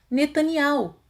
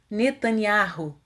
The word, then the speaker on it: Netanyahu: ocidentais pronunciam e errudar o mesmo ocorre com o nome netaniá-lo Os erro de o promocinho da seguinte forma netanial enquanto que os ocidentais pronunciam netanyahu falaremos agora a respeito